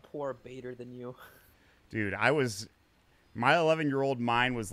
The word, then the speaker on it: B8R_TH8NU: So it actually is pronounced Bader than you instead of, because I thought 8 was a 3.